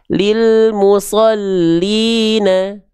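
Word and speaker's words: لِلْمُصَلِّينَ: Misalnya kalau huruf lamnya dia tidak bertasydid, maka dibacanya gini. Lil musolina al-nya enggak ditekan kalau enggak ada tasdid. Lil musolina. Kalau ada tasdid lil musollina.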